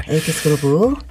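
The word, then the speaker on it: 80s Groove: 80, 이거 어떻게 읽어요, 진짜? 80스 그루브. 80스 그루브. 라고 읽어달라고 하더라고요. 아, 알겠습니다. 예. 80스 그루브.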